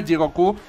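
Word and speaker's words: 地獄: se utiliza la palabra Jigoku. Que es casi... no, Jigoku o Jigoku. Jigoku. Es que es como Jigoku. Es que es una pronunciación un poco rara. Es como... no es ni llana ni aguda, es Jigoku.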